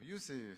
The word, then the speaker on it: Youssef: Hallo, hallo, Youssef. Das habe ich richtig ausgesprochen.